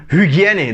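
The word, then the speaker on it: Hygiene: Et c'est ça, on dit que par exemple, hygiène, donc on prononce vraiment le H, vous voyez.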